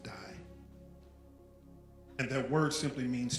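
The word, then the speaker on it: δεῖ: for must is die spelled d-e-i but pronounced die and that word simply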